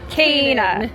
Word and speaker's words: Canaan: Thanks to Google, we looked up the pronunciation. This is canna. Canna. This is canna. Canna. Canna. And the land of milk and honey is Canaan. Canaan.